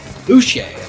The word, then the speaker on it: Boucher: It isn't spelled like B-O-O-S-H-A-Y. Boucher. Bobby Boucher.